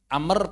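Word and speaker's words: عمرو: Kalau para ulama mengatakan Amr pakai waw untuk membedakan dengan Umar. Itu supaya beda. Kita kalau ada Amru, maka dia bacanya Amr.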